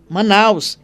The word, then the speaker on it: Manaus: Manaus escrito com o, mas com a mesma pronúncia. A fonética não muda.